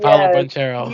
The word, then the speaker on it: Banchero: I can't pronounce his last name. That played for the Banchero Magic. or Banquero? Paulo Yes, Banchero.